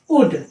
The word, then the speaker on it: would: WOULD, उड। SHOULD, शुड। अब यहाँ पे एल साइलेंट है।